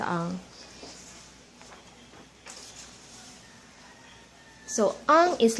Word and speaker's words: ang: go to the pronunciation so ah it's like the sound of the young in English meaning not old but without the why so young and that's how you pronounce the arm so um is like